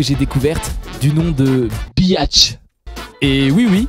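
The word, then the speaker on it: Bihać: découverte du nom de Bach et oui oui visiblement la prononciation c'est bel et bien bat cette ville se situant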